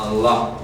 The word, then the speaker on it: Allah: No, Alá no, Allah. Allah. Ya aprendió a pronunciarlo. ¿Ya? Allah. ¿Con qué cultural? No es la doble L en árabe, suena así.